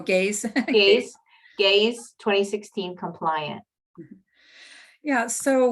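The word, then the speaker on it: GAISE: How to find OER that is more, I always pronounce this wrong, Gazi? Oh, Gaze.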